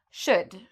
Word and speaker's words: should: So afterwards, you don't need to worry about this L. It's silent. So we say would, should, could.